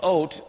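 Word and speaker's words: אות: the Olf B and the Tav is how it's spelled it's oat and do you know what this word actually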